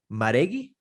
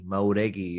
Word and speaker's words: Mauregui: Maregi. Mauregui is right.